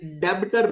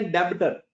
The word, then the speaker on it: debtor: साथ जो जुल्म हुआ इसको मेरे जैसे अंग्रेज डेबिटर पढ़ते हैं जो कि गलत क्या पढ़ते डेटर इसमें बी साइलेंट है इसमें बी साइलेंट है तो यह पढ़ा जाएगा डेटर्स क्या पढ़ा जाएगा डेटर्स बी साइलेंट है तो किसी ने इसको डेबिटर नहीं पढ़ना बल्कि डेटर पढ़ना है दूसरा पाकिस्तान में आकर